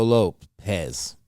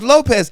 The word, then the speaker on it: Lopes: I'm gonna call him Diego Lopes, but it's Lopez, right? Yeah, but he's just the Brazilian version, and that's why it's spelled that way, right?